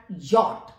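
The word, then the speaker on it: Jot: ई बोला जाता है जे जे का उच्चारण यट यट होता है यानी कि योट का मतलब है कि इंग्लिश में तो जे ही होता है इसका उच्चारण लेकिन योट का मतलब है या कि जे को याय बोला जाता है तो ये अल्फाबेट भी आपका पूर्ण रूप से भिन्न उच्चार को करता है के के का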